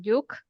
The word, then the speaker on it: Lluch: Ella se llama Rosa yuk e se escribe l l u c h pero se pronuncia como yuk o parecido muy bien y te